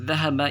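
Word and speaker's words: ذَهَبَ: Muhammadun dhahaba ilal mirhadi, dia pergi ke toilet. Ya, kharaja dan dhahaba ini tidak mansub, tidak dhammah bacanya, tetapi dengan fathah.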